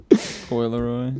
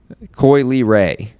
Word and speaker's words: Coi Leray: Coi Leroy. Yeah. Coi Leray. Say it right, dude.